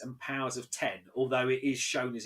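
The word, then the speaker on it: Powers of X: together and it is house of x and powers of ten although it is shown as an x but it's pronounced out of ten um jonathan hickman comes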